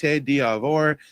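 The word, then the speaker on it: Côte d'Ivoire: Uh yes, Ivory Coast is like you said, it's pronounced diavore.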